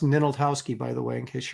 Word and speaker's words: Ninaltowski: That's pronounced Ninaltowski, by the way, in case you're wondering.